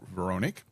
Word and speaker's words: Veronique: I know it looks like Veronica or something like that, but it's Veronique.